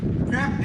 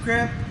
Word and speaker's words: crepe: Some people pronounce it crepe, some people pronounce it crepe. Both are acceptable.